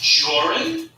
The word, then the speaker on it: Jorrunthon: My name is Jorrunthon. That's Jor, rhymes with or, and run, which is what you